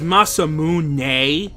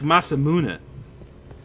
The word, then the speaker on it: Masamune: who they're like well actually it's masamune like with the with like a really pronounced nay at the end that's not re that's not how you say it either it's it's really more like masamune like but not with as much of an a sound as i put at the end there either so we're gonna have